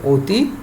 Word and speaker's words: অতি: যেমন দেখো শিক্ষার্থীরা আমি কিছু উদাহরণ দেখা যাচ্ছে, অতি, অ, এই এখানে অ আছে, আমরা বলি অতি, অতি, তাহলে অ এর উচ্চারণটা উ এর মতো হচ্ছে, সেই জন্য আমি উটা দেখিয়েছি।